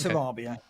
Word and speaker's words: Sarabia: know I thought you'd watch the Premier League pronunciation always called him Sarabia right you're wrong it's Sarabia Sarabia complet I'm sure I'm sure wol Pack's